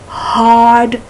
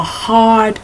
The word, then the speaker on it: hard: know what I'm doing I'm pronouncing my AG H is too strongly you don't go hard I just want to see that you do pronounce the h although I know there are sections of in the UK and British English where even though it's correct to pronounce your um your hes they don't pronounce their hes what's that um oh